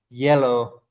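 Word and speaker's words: hielo: easy for me because it's basically like you're just saying the color yellow in English it's almost exactly the same pronunciation and by the way if you don't know yellow h-i-e-l-o that's the word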